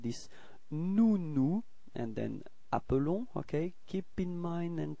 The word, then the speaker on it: appelons: Okay, so you can notice that the pronunciation is a bit different for the verb. It's appelons, okay, because there is only one L there.